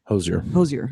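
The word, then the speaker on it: Hozier: No, but I just looked it up recently, and her performance with looks like it's spelled Hoosier. Hosier.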